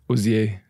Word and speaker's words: Hozier: over there it's it's Aussie so you know that's the French pronunciation that's French and it